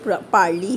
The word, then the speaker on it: parley: इसे पारली ही प्रोनाउंस करेंगे।